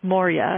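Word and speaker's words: Maurya: individual who is a Serial entrepreneur named Ash Moria and it's spelled Ash as and his last name is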